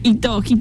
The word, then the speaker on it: hito: Hito, no sé cómo se dice... Hito. Es H es muda en el...